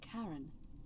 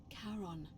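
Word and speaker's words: Charon: Only your pronunciation is a little off. Karan. The name you heard wasn't Karen. It was C H A R O N. As in Karon, the fairyman of the dead.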